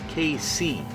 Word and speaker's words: Kei: We are driving in a 2012 Suzuki Kerry KC or K truck. We're driving it in a lightweight K Cup race, which is a a compact car race for Japanese K cars. That's spelled K EI, by the way.